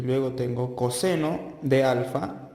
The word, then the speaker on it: coseno: Y luego tengo coseno de alfa, se escribe cos, pero se lee coseno, es igual a cateto adyacente sobre hipotenusa.